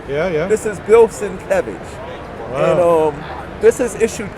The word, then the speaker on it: Bill Sienkiewicz: Let me say it right, because he hates when you say his name wrong. Yeah. This is Bill Sienkiewicz.